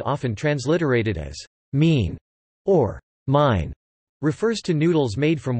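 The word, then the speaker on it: 麵: Each noodle type can be rendered in pinyin for Mandarin, but in Hong Kong and neighboring Guangdong it will be known by its Cantonese pronunciation, min.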